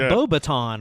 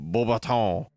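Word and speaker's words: Beauxbatons: I was like Beaubaton, right? Like blue wand in Which French, is exactly how it would be pronounced. Beaubaton. But no. Beaubaton.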